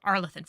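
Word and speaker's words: Arlathan: on our laan forest arthan forest that's how they pronounced it the veil jumpers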